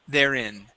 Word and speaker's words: therein: go to therein okay give me a short I there instead of therein therein therein okay very good uh let's